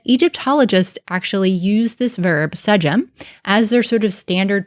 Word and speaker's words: sDm: So in modern times, we pronounce this as sDm.